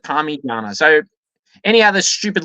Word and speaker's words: Parmigiana: Is number 1, spell it out. It's an I, and pronounce it Parmigiana.